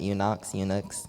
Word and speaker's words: eunuchs: "Then the king instructed Ashpenaz, the master of his eunuchs," I don't know how to pronounce that, eunuchs, sounds like Enoch, eunuchs, "to bring some